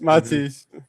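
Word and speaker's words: Mathis: Matias Preston, Matias, however you say his name is. Matis. Matis. Yes.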